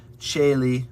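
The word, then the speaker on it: caeli: ah that's it um the letter c in many cases is pronounced as a cha sound like a ch specifically cheli which is heaven and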